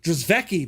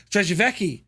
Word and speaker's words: Drei: that was brutal but I think that's actually how you pronounce it I used to always I used to always say DVI but I think it's actually called drei right and I have